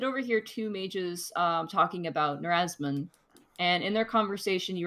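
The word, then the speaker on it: Nerasmun: How do you spell that name? Riazan? N-E-R-A-S-M-U-N. N-E-R-A-S-A-I-M? S-M-U-N. S-M-U. All right, I got that. Narazman? Yep, Narazman.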